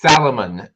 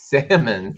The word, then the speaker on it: salmon: Or my daughter even would say it's Salomon. It's not Salomon, it's salmon. Salmon.